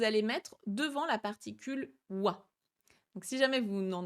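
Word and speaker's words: は: Donc je vous rappelle, hein, c'est la particule wa qui s'écrit ha, mais qui se prononce bien wa.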